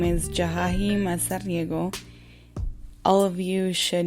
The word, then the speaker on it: Jahahi: to be really honest my real pronunciation of my name is jahi um but J jahi